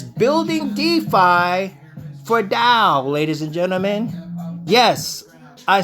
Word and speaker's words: TAO: now what is da da is a coin Da comes from bit tenser ladies and gentlemen now